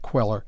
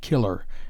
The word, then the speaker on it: queller: the life of jack the giant queller not killer as usually erroneously written and pronounced see my essay on